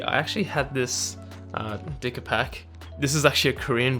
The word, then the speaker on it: Dicapac: below so basically i actually had this uh dicker pack this is actually a korean brand you know my people just going to take credit for that and it actually is pronounced decapec originally when i got my hands on this